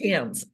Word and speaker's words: Thames: me tames do is that how you pronounce it tames it's Tams like the Tims River like the Tims River